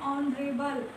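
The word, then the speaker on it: honourable: इसी तरह से एन ऑनरेबल, इसका जो प्रोनाउंसिएशन है वो क्या है, ऑनरेबल, और ओ होने की वजह से हमें यहाँ पर एन का यूज़ करना पड़ रहा है, ये एच यहाँ पर साइलेंट होता है।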